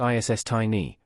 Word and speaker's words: Istini: She'll be playing the perky, 1989-obsessed Tammy Istini, pronounced ISS Tiny, who takes over for